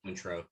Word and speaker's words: Cointreau: Yeah, Cointreau. I've always said Cointreau, but Cointreau.